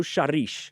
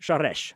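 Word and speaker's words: Seress: And so this was written in 1933 by a guy named Rio Shares Sharesh. Sorry, I had to get my Hungarian pronunciation down there.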